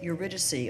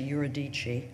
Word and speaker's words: Eurydice: her poem is called Eurydice or as I think it's pronounced in this country yer adichie the time out doesn't